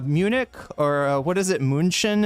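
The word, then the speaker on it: München: Munchin is the actual is how you say that in in German.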